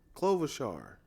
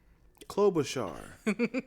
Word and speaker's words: Klobuchar: even say her name clover char did you put a v in it klobuchar i'm from i'm from